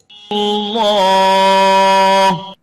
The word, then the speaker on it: الله: The right way of pronouncing it is like this. الله. Allah, without saying Allah is wrong.